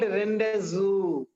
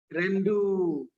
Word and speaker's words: rendezvous: It is called not rendezu. It is pronounced as rendu. Rendu. O-V-O-U-S should be silent.